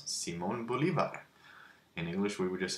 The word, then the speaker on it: Simón Bolívar: That's how you pronounce Simón Bolívar. In English, we would just say Simon Bolivar.